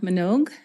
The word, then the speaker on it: Manogue: My name's Minogue, and my last name is spelled Manogue.